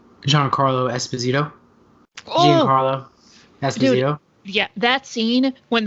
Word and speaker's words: Giancarlo Esposito: We are looking at how to pronounce with a typical Italian pronunciation, Giancarlo Esposito. Giancarlo Esposito is how it would be said in Italian. However, in American, it is generally said Giancarlo Esposito.